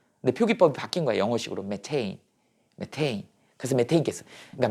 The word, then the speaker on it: 메테인: 메테인이지. 옛날에는 얘를 갖다 메탄이라고 읽었다고. 그러면 얘가 어떻게 됐다고? 짠짠짠짠 짠짠짠짠. 자, 단일 결합이죠. 뭐 우세하다고? 치환 반응이 우세하다고? OH는. 이게 메탄에 올이 붙은 거야.